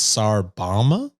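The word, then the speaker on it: Tsar Bomba: I just heard Boba I think I even pronounced that wrong it's SAR Bama B yeah yeah that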